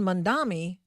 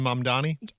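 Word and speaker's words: Mamdani: And of course, Zoron Mandami. Mandani. I keep trying to get that. Have you just been mispronouncing it the whole time, too? Zoron Mandani.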